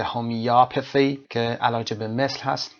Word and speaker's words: homeopathy: هومیوپاثی که استرس روی او قرار میگیره و آ تلفظ میشه هومیوپاثی که علاج به مثل هست، توضیحش هم که دارید میبینید این قسمت.